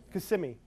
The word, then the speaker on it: Kissimmee: And it says right here, as I search for Kissimmee, and what's the proper pronunciation? Kissimmee.